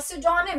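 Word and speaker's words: pseudonym: Name sec, to persons of same names, और सिडोनिम, इसको सिडोनिम बोला जाता है, पी रिमेन साइलेंट, ठीक है।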